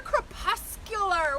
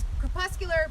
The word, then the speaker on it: crepuscular: But they're crepuscular.